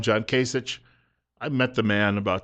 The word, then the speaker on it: Kasich: I think the name is pronounced usually John Kasich, but some people call him John Kasich.